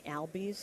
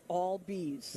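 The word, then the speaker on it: Albies: pronounce his game because everyone was going albz and he's always remember he got all be's yeah there you go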